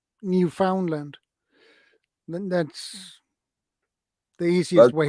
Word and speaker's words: Newfoundland: Some guys will tell you it's Newfoundland, understand? And other ones will tell you it's Newfoundland, and others will tell you it's Newfoundland, and some. yeah, a different pronunciation on it. So you just say it the way you want to say it, and Yeah, for me, it feels better to say Newfoundland.